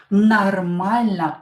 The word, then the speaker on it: нормально: Нормально. О, not stressed. Pronounce it as A.